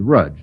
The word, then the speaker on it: Rudge: It rhymes with judge. Yes, rhymes with rudge, not with judge.